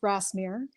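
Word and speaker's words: Grasmere: Well, you were right in the way you pronounced it. It is Grassmir.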